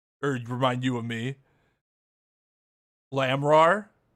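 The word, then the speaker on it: Lamiroir: Lamrar is how it's pronounced.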